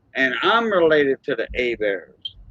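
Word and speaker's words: Hébert: he's related to the a bears that came from canada down here and i'm related to the a bears h-e-b-e-r-t a bear that's how we pronounce it in french a bear i'm gonna put it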